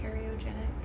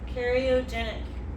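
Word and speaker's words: cariogenic: It's like the karyogenic. Yep, karyogenic.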